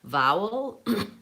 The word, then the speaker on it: vowel: Vowel has the va sound, vowel, vowel, vowel. That's actually a difficult word to pronounce because of the W and the V. So when I'm saying vowel, I need to start with a V sound, v. Make sure I have a W sound in the middle.